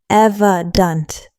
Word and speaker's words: evident: The pronunciation is evant. Three syllables. Evant with stress on the first syllable.